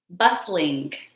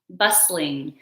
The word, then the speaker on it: bustling: Our next word, bustling. Bustling. So the T in this adjective is silent. So we don't pronounce the T.